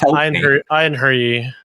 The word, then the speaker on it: einherji: become what's called an einherji. I don't know how to pronounce that. Nope, not English. It's einherji. Okay, so I mean, I was pretty close. It's a soft J.